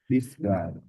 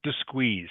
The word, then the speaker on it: disguise: Disguise that's better. Okay. Not disqueeze. It is disguise. Skies. Skies rhymes with sky.